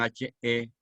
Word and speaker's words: Hegel: Es el máximo representante en filosofía Hegel, que se escribe con H-E-G-E-L, Hegel.